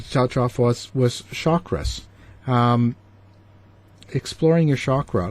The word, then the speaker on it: chakra: the sanskrit language and it is a sanskrit word and the word is